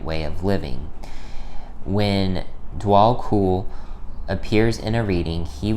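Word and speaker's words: Djwal Khul: All right, it says, Dwal Kul. Okay, yeah, that's how it's pronounced.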